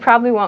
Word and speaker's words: probably: probably comes before and at native speed probably probably uh is pronounced prolly kind of so to say these